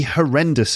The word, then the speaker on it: horrendous: can be an absolutely horrendous experience her rendus three syllables her and it's the second syllable wren horrendous an absolutely horrendous